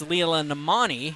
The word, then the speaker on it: Leela Namani: I was just being reprimanded for a mispronunciation. It's Leela Namani.